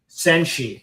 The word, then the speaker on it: Senshi: How is that pronounced? Phoenix what? Senshi.